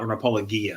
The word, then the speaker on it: apologia: a bit of an apologia for uh apologia i guess you know hard g uh for the idea